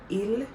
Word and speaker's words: ils: Please don't say ils or elles. The S is silent. Except, we're going to talk more about it, except if you're going to join it with a vowel, then yes, you may pronounce it.